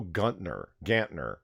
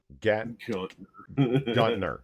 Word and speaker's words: Gantner: This is a conceptual art project by Praxis, curated by Valley Joe Guntner. Gantner, yeah.